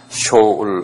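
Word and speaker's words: שאול: 히브리 말로 히브리 말로 쇼라 그 쇼 이렇게 쇼울 한번 발음해 보래 쇼울 어울 그 한국말로는 이걸 수올이라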